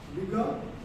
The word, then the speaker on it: vigor: It is called vigor. The R is silent.